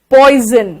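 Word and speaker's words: poison: जा ही बोलना जरूरी है ऐसा थोड़ी होता पॉइजन मैंने भी कहा मैं भी बिहारी हूं लेकिन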